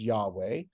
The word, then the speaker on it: Yahweh: God or the Lord which which will pronounce for our purposes as Yahweh um in the original